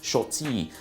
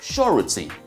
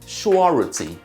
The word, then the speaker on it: surety: now let's go to the one people called shorty um it's time to shorty for this person